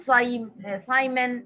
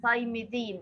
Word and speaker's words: thymidine: بنزود S-I-N في آخر الاسم بتاع البيورين, انما we pronounce the pyrimidine by adding a suffix din at the end. It's not cytosine, it's not cytosine, it is cytidine. It's not thymine, it is thymidine because it is pyrimidine.